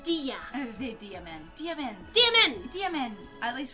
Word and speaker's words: Dia: it if you say your name wrong like daiya instead of diya diamond dmvn dmn at